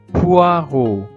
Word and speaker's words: poireaux: Ce sont des poireaux. Ce sont des poau. OK. Le E, le A et le U se prononce O. Et le X final ne se prononce pas.